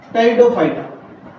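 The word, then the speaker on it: pteridophyta: एक होते है साथियों टेरिडोफाइटा अच्छा इनम प साइट होता हैमोनिया के अंदर प साइलेंट होता है ना उसी प्रकार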